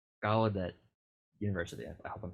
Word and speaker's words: Gallaudet: It's in it's Gallaudet University. I hope I'm pronouncing it right. Gallaudet, yeah.